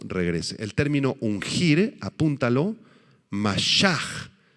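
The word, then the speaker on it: משח: da cuando Cristo regrese el término ungir apúntalo mashaj m a s h a H mashaj es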